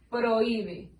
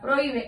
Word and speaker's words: prohíbe: a nuestra pronunciación y la H es una H muda. Entonces quedamos con que en la palabra prohíbe hay un hiato.